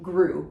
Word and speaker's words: Groult: However, Groult, we're not. It's just Groult. So Benoîte, we do say the T at the end of Benoîte because there is an E. It makes it a feminine name as opposed to the masculine Benoît. But then we do not say the T at the end of Groult, or in an English accent, Groult.